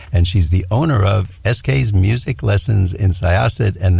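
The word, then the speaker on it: ESKAYS: Sarah is a Long Islander, and she's the owner of SK's Music Lessons in Syosset, and that's spelled E-S-K-A-Y-S. It sounds like the initials S-K, but it's not.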